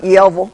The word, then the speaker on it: Yellville: find us Yellville oh Yellville hey it's it's pronounced Yellville thank you very much yville yville amen sister